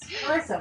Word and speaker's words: Charissa: Yes, Charissa with a hard C.